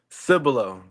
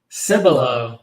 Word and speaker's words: Cibolo: 4-star commit from, hopefully I pronounced this right, Cibolo, Texas. Welcome to the show, my man. Here we go. How you doing? Sir. Doing amazing. Doing Did I amazing. pronounce that correctly? Cibolo. Cibolo.